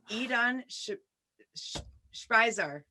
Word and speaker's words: Idan Shpizear: I think, so he gave me a cue on how to pronounce his name. So hopefully I get this right. Idan Shpizear.